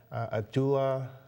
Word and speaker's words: Abdallah: friend here who comes from Uganda Abdullah did they pronounce it right yeah awesome thank you um